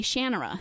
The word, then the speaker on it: Shannara: the audio books all of the narrators say shanera and the first the first two or three